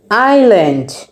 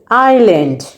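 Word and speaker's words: island: সেটাকে বলে আইল্যান্ড।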